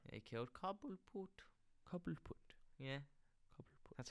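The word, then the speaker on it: Cobblepot: Cobbleput.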